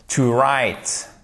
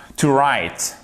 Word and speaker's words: write: To write down. Alors, to write, on ne prononce pas le S. OK? Oh my goodness, sorry guys. On ne prononce pas le W, OK?